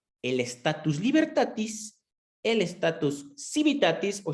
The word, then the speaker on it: civitatis: estatus libertatis el estatus civitatis civitatis había escuchado personas que lo pronuncian con la che y el estatus familiar